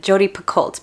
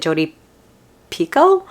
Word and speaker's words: Picoult: I always pronounced it Jodi Picoult, but I was watching Lena's videos and she pronounced it Jodi Pico. So I think I'm pronouncing it wrong this whole time.